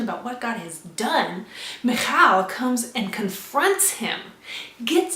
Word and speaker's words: Michal: What happens about midway through, I think it's verse 16, and Michal, it's spelled Michael, M-I-C-H-A-L, it's female version, Michal.